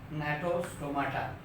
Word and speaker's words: Gnathostomata: G से दिया हुआ है, but I think that will be pronounced as Gnathostomata.